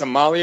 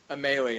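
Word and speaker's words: Amalie: Arena down to Tampa oh it's a Molly Arena Emily em potato potato I've always liked I've always thought it was a melee I I never could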